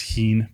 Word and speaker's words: heme: Because if it comes back and they can't use this protein, this heme protein, did I say it right that time? Heme. Yes. Like a meme.